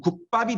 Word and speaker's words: 국밥: 국과 밥이 합쳐진 합성어이지만 실제 발음할 때는 국밥이 되지. 원래는 받침에 국, 밥이었었는데 이 비읍이 뒤에 오는 앞에 오는 이 안울림 예사소리 기억에 영향을 받아서 이 뒤에 오는 게 안울림 된소리로 바뀌어 버렸지. 국밥으로.